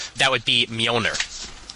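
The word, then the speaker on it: Mjölnir: Well, actually not not exactly silent. It does like a Y sound. So it's Mer.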